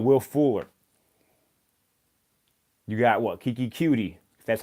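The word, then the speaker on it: Keke Coutee: anywhere you got will fuller you got what keiki qt that's how you pronounce his name I don't even like saying it that way they don't sound right coming from man's voice Kiki cutie and then obviously DeAndre Hopkins you had those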